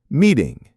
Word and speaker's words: meeting: The T in meeting is a flap T. Meeting.